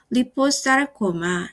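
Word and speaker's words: liposarcoma: 파이브로사르코마, 섬유육종, 오스테오사르코마, 골육종, 리포사르코마, 지방육종 또는 라이포사르코마라고 읽기도 합니다.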